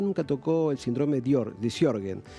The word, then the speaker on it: Sjögren: Te preguntaba cómo se pronunciaba porque es bastante difícil, porque es S-J-O con diéresis. Pronunciamos medio diferente. Sjögren está bien dicho, ¿no?